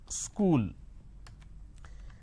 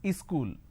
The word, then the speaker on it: school: to america for example the word which is school there are two syllables school but in in places like up bihar jharkhand they add another syllable they pronounce this as ischool wherever there is a